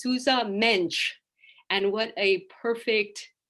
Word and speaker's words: Sousa Mendes: And I learned something very quickly when I met my first Portuguese person, was that they pronounce Sousa Mendes's name as Sousa Mensch.